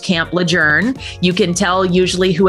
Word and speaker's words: Lejeune: looks like it's Camp Lejeune and apparently it's named after someone whose name was pronounced adjourn and so that's why